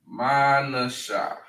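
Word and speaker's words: Manasseh: All right, Manessa. Their name means made to forget. Made to forget. All right, made to forget. All right, and in the Hebrew, it is pronounced Manasha.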